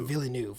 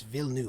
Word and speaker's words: Villeneuve: is also like i apparently said his name wrong which is denny villeneuve sorry it's not villeneuve it's villeneuve i was making his name a lot like a lot harder than i had to before danny really